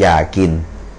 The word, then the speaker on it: อยาก: อย่าง นะ อ่า อ่า ต่อ ไป ยักษ์ สระ อา ก ไก่ เท่า กับ ยอ อ่า อ ยาก falling โทน นะ ครับ ไม่ ถ้า มี ออ อ่าง ก็ จะ เป็น ออ อ่าง สระ อา ก ไก่ อ่าน ว่า อยาก อ่า ออ นำ จะ